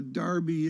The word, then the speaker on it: derby: call it uh kelly they call it a darby except it's spelled derby and i don't understand